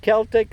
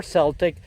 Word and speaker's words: Celtic: Anyway, whether you pronounce it Celtic or Celtic, this is a really good plant that, as you see, was introduced through proven winners.